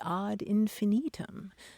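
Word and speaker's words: ad infinitum: uh we shouldn't be talking about things add infinitum because in Latin it would be odd infinitum and Maran the other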